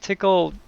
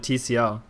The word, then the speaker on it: Tcl: Is that how you say it? I don't think I've ever heard it said that way before. I always just called it TCL. Yeah, I've heard both.